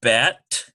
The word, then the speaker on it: bet: We have bet and vet. Notice there's a slight difference. One has a B sound. Bet, the other has a V sound.